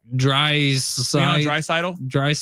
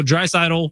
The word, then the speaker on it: Draisaitl: Draisaitl. I 100% am saying it right because I've watched a gazillion of his games, and sadly, he's cooked my team. All right, so Draisaitl, more than 9 faceoffs.